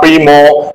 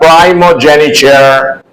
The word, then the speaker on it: primogeniture: prefect number four primogeniture the pronunciation is not Primo but primogeniture number five pro pro